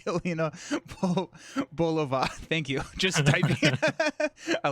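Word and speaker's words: Yelena Belova: Winning hand is pronounced Helena Bolova.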